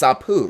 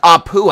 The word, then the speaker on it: Apu: Well, APU is pronounced Apu. I've seen The Simpsons. I've watched The Simpsons. You know the guy at the Quickie Mart? His name's Apu. Okay.